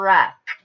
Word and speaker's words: wreck: A car wreck. Which one of these digraphs do I hear in the word wreck? Lillian? WR.